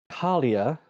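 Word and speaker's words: Kaalia: leah your full name uh my name is carlia is my last name if you must know how do you spell that uh so k a a l i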